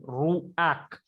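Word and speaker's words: ruach: when pathak furtive comes, this pathak sound you have to pronounce it before the consonant sound. For example, I'm pronouncing ruak. A sound I'm pronouncing first, and then that ket sound.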